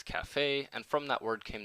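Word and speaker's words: caffè: kaha by the way the Italians took the Turkish word and pronounced it as Cafe and from that word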